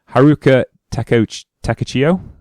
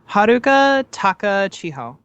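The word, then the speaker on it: Haruka Takachiho: Haruka Teo Teachio. Haruka Taka Chiho. Yeah, right. Closeish.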